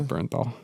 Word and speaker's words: Bernthal: John Burn how do you pronounce Bernthal? Yeah. Is it Bernthal? It's Bernthal.